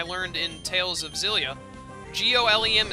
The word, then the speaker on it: Golem: down Golem it's pronounced Gollum apparently I learned in Tales of Xillia g-o-l-e-m is pronounced Gollum I always pronounced it